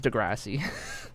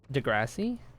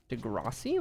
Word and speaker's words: Degrassi: Degrassi. Wait, how do you Wait, is there another way to pronounce it? with a low a degi like that. That sounds wrong.